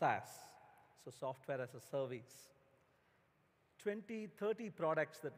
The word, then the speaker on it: SaaS: Rajendra dhandapani afternoon saas is pronounced ass so software-as-a-service 20-30 products